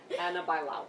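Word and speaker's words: Ana Bailão: Anna Bilo. Annab Bauo.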